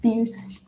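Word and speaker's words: Peirce: a semiótica de piercing algumas pessoas falam também força mas eu vou adotar aqui a pronúncia piercing que que é né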